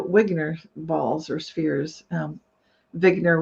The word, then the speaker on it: Wigner: balls or spheres um vigner would be the way Eugene vigner would have pronounced it and basically he was